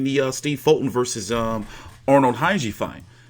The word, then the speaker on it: Khegai: Shit, I'm more interested in the Steve Fulton versus Arnold Khegai fight. The K is silent.